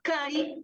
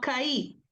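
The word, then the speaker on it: καί: Porque en el griego, aunque la I lleva el acento, cuando lo hablamos, el acento lo tiene la vocal anterior.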